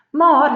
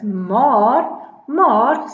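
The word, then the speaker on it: maer: Then I have another set of homophones, homofone, maar. Die een is maar to mean but, it has two A's. The other one is spelled differently, it is M-A-E-R, and that means you are thin.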